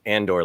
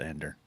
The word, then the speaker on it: Andor: I just said, I've just pronounced Andor like Luthen does.